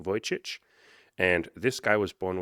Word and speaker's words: Vujicic: He has a Serbian name and I never used to be able to pronounce it, but now I can. Nick Vujicic.